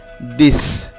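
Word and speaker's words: dix: এবং এরপরের শব্দটি রয়েছে দিস। দিস এর শেষে কি? ইক্স আছে, ইক্স এর উচ্চারণ ছয়ের মতো।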